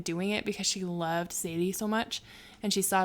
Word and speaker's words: Zélie: So when they went to Our Lady of Lourdes, and Zélie, did I say it right?